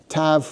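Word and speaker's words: ת: And and here once again tav with the desh is a hard sound.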